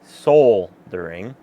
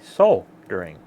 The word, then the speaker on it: solder: soldering or some say soul during they make sure they emphasize the l and some say so during the l is silent so kind of three